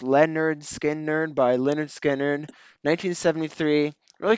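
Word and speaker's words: Lynyrd Skynyrd: yeah great pick yeah number nine I have pronounced Leonard skin nerd by Leonard Skinner 1973 really consistent album great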